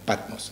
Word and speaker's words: Patmos: Ya, de Patmos, para pronunciarlo bien, Patmos, ¿ya?